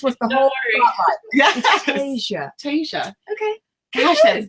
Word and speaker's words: Tesia: Tesia, like Fantasia.